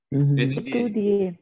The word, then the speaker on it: étudier: Étudier. Étudier. Étudier. Étudier. Because how étudier? You tell me how it is étudier. Because we have a E, that is an A sound, and ear sound is A.